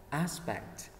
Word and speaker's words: aspect: là khí cảnh ha mình sẽ Nhấn ngay âm âm 1 aspect ok khí cạnh của cái gì đó đúng không aspect âm 1 thứ ba examiner examiner